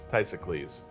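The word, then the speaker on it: Ktesikles: Tysicles. Classic silent K to start a name.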